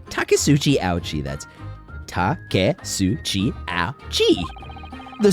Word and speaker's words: Taketsuchi: I butchered it last time. Taketsuchi. Taketsuchi Ouchi, that's Taketsuchi Ouchi.